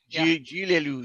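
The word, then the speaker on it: Gilles Lellouche: Gilles Lelouch. That's how you say Gilles it. Lelouch. Gilles Lelouch.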